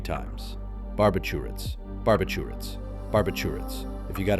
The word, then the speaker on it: barbiturates: Barbiturates. Let's break it down. This word often confuses people. The correct way is barbiturates. Start with bar, then b, then a smooth chew, and end with ritz.